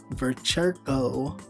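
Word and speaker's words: Vechirko: He has also made political donations to President Donald Trump and the Republican Party, Bogdan Vercherko, that's how you say it, age 35, was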